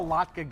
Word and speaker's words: latke: Latkes, latkes, I'm a latke guy. Latke? I'm not a latke guy. I like to say latke, it rhymes with vodka.